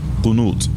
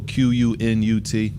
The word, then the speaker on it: Qunut: Qunut. Yeah. It's usually spelled like Q-U-N-O-O-T or Q-U-N-U-T. Qunut.